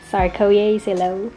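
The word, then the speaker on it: Tsarskoye Selo: If you're not sure about the bus, just check the bus for the sign saying Sarkoye Selo, supposedly that's how it's pronounced, or just ask a bus driver.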